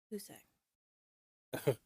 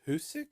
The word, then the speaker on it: Hoosac: you heard of Hoosac? Who's Zach? Who? What? Hoosac. Who's sick? Hoosac. Sorry, I was I in my mean, I brain was saying just I sick. can't say Hoosac, but it's Hoosac.